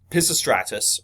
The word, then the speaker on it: Pisistratus: But Pisistratus, okay, and it's spelled slightly different than how it is pronounced.